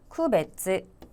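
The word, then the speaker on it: 区別: 자, 구별은 발음 어떻게 하신다? 쿠베츠.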